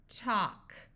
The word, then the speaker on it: talk: L will be silent so here we have a l and then a k so this a will have the broad sound of a but the L will be silent talk walk St o stock